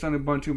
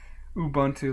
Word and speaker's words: Ubuntu: Ubuntu, but nowadays it's based on Gen 2.